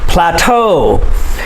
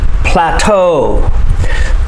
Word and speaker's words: plateau: the k lake plateau plateau it sounds like t-o-e plateau usually words that have